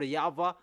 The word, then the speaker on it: Yahweh: encyclopedia with Wikipedia that in Jewish they pronounce W into V, and that has been from minus 200.